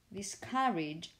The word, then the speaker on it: discouraged: what you're saying or if you use the word discouraged discouraged the stress is on this syllable here not on the first one on the last one and also the vowel